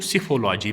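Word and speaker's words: psephology: तो सिफोलॉजी, P silent रहेगा यहाँ पे, सिफोलॉजी याद रखोगे आप।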